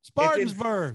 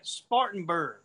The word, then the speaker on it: Spartanburg: yeah where we're at spartansburg spartansburg south carolina what well you got the first thing you got to do is learn how to say it spartanburg whatever you southerners all